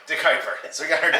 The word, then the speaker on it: De Kuyper: I never know how to pronounce that word. De Kuyper. De Kuyper.